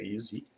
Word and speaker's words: EZ: Então, a plataforma a gente chama de Suite Easy, EZ, né? Que em inglês se pronuncia Easy.